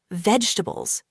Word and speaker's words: vegetables: A lot of people say it like this, vegetables, slowly and with every syllable. But in natural English, we often say it faster and smoother. Vegetables. Only three sounds.